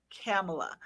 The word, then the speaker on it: Kami: easy to just say, it's like Pamela with a K, Yeah. Kamala. Like the Yeah. vice president now, Kamala. That's how my name is pronounced, but it's not spelled the way it's pronounced.